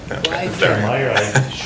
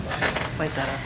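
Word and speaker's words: Wayzata: Is staff now ready for, I've been corrected on the pronunciation of, wait. Wyzetta. Wyzetta? Wyzetta. You got it. Okay. Thanks for asking. Wyzetta.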